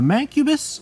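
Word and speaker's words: Mancubus: two of the newcomers to my favor the mang cubis I'm pretty sure that's how you pronounce it and I love him just because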